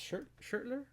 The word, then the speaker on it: Schertler: Now keep in mind, Schertler is not paying me for this or any of that stuff.